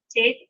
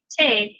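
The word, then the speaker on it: טית: Now this is not pronounced like our T, where we will put the tip of our tongue right behind the top front T. This is pronounced with the tip of the tongue pulled back a little bit further, pressed up against the hard palate. So it's a little bit softer than our T.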